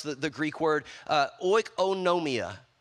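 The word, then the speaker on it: οἰκονομία: the Greek word uh oikonomia oikonomia notice in the middle it says oh no I was like a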